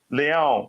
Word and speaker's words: Leão: you were the one that learned how to pronounce it leon okay just sound like a cat a bit